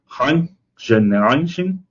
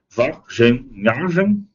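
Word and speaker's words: Wageningen: e tem e tem enorme concentração de pesquisas na Universidade de Hening, provavelmente pronunciando errado, né? É Vengen, né?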